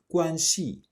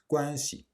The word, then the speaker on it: 关系: As I said in previous video, the C loses its tone in the word guanxi. We do not say guanxi, but guanxi.